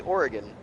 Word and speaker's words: Oregon: Because I say Oregon. Oregon. Like she puts the God, emphasis on the last syllable.